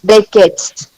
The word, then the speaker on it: breakage: Don't pronounce it as age. Edge.